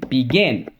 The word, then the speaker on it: begin: right in those cases because the accents on the second syllable begin begin continuing with our journey